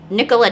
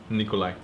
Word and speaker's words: Nikola: pretty cool stuff so nikolai tesla yeah and then um oh his name is nikolai tesla it's not nikola nikolai yeah i'm pronouncing it right it's okay okay you're